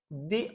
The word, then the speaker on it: the: Vowel है तो फिर हम क्या बोलेंगे इसको, दी अम्ब्रेला। सिंपल है।